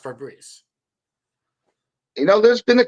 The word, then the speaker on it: Febreze: Apparently, it's spelled Febreze, but it's pronounced Febreze. There's only I've only known it as Febreze the whole time. yeah, but it's spelled Febreze, For breast. Ah. but it's pronounced Febreze.